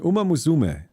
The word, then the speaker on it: Uma Musume: You say it normally, Uma Musume. Uma, not Mew.